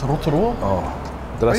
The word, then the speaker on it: Rotorua: Can you actually pronounce it right, bro? It's Rotorua.